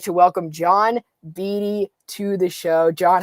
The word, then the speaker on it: Beatty: she'd been calling me Beatty for so long. Yeah, it's an easy name to pronounce in Michelini. So if you could say Michelini, you could say Beatty. It's not that difficult.